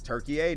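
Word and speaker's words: Türkiye: It's Turkey-ay now.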